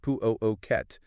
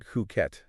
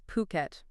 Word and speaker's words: Phuket: And just so everyone's clear, we're talking about Phuket. Puet, not uh not Phuket, as some might say. Yeah, you got to get that pronunciation right. It's Phuket.